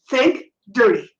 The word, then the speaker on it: Think Dirty: rating as to help how do you spell that please think t h i n ke K dirty Think Dirty you can look up all s si si n k no think like your brain Think Dirty think dirty